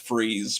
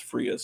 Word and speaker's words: Frias: on these ace doubles, which I used to think was pronounced freeze, but its Spanish pronunciation is Frias.